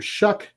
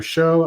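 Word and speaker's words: Shough: And quarterback Tyler Shuck, although I want to call him Tyler Show, I get it. It's old English, but I don't care. I do not like the spelling.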